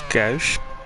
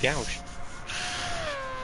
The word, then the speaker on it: gauche: I think it's gauche, but It's G-A-U, so I always call it gauche.